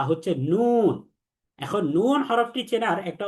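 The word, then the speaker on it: نون: তাহলে এটা হচ্ছে নুন। তাহলে নুনের উপরে এক নুক্তা থাকবে, তাহলে এক নুক্তা যুক্ত নুন হরফটিকে 3 আলিফ টেনে পড়তে হবে। আমরা পড়ব নুন।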